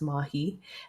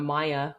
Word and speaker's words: Mahi: I said it's pronounced Mahi. They completely just disregarded the name. They called her Maya, which again was perhaps because they just saw